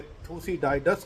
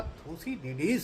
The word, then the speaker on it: Thucydides: यह शब्द जो है इसे थूसीडाइडस कह सकते हैं या थूसीडिडीज कह सकते हैं, जो कि एक ग्रीक शब्द है। यदि आप अंग्रेजी में बोलते हैं तो इसे थूसीडिडीज कहा जा सकता है, यह इसका प्रोनाउंसिएशन है।